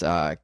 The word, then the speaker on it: Knautz: Before we gloss over him, because I know this is going to happen, John, I think his last name is pronounced Nautz. It's Knautz. Sounds about right.